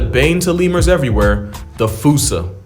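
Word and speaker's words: fossa: to lemurs everywhere the fusa although with its spelling I'm pretty sure it's actually fossil but the day I pronounce it like that is the day I lay my childhood to rest the foosa is pretty much a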